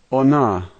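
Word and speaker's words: она: The only letter here that's unusual is the H, and that's an N sound, so this word is ona, ona.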